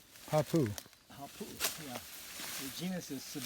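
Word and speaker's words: hāpuʻu: Hapu, glottal stop U. Hapu.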